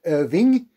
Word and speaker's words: Irvin: Irvin, American Leslie Irvin, pronounced Irving. There should be a G at the end of his surname, but a clerical error meant that forever it's known as Irvin, but it should be Irving.